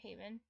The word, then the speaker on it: hav: like in Danish Hav it's it's pronounced like how because V makes a dip thong.